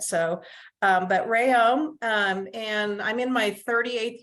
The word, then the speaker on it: Reaume: I let everyone know that it's Reaume, like a ray of sunshine, and ohm of electricity, although my husband says that's not really accurate. So, but Reaume, and I'm in my